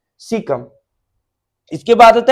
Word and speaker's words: caecum: तो इसको बोलते हैं सीकम. केशियम नहीं, इसका उच्चारण है सीकम.